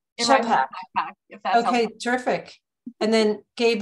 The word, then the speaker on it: Schappach: your last name it's a doozy it's pronounced backpack okay terrific and then Gabe Lemay um both